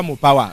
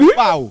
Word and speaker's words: Mopao: C'est pas Mopawa. Rodrigue, il faut bien prononcer les choses. J'aime pas ça. Prononce bien le nom. Donc aide-moi à prononcer si tu veux. Mopao. Voilà, Mopao, voilà.